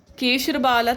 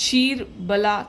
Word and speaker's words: Ksheerabala: ठीक है, सो या today's video is all about this केरला Ayurveda केशरबाला Telam. Okay, okay, sorry, I pronounce it incorrectly. It's शीर बला तेल.